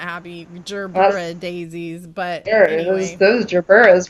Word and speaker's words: gerbera: Oh my gosh, I bought some Gerber daisies the other day. You mean gerbera? Is that really how they're pronounced?